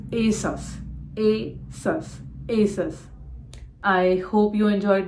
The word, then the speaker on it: ASOS: Levi's Lee wise lastly it is not Asus or Asus it is Asos Asus I hope you